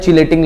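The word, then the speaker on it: chelate: किलेट मतलब होता है रिंग फॉर्मेशन, किलेट करना, उसका एक्चुअली प्रोनाउंसिएशन किलेट होता है, तो हम यहाँ पे चिलेट पढ़ते हैं।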